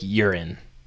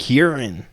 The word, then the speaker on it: Huron: is Lake Huron, which as my grandma would call it, Lake Urine. Okay, why? Because she can't pronounce it the right way. Oh, okay. So every time it comes out, it's words. Lake Huron.